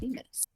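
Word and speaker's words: Polyphemus: I found a pronunciation of it. It's Polytheis. That's what it is.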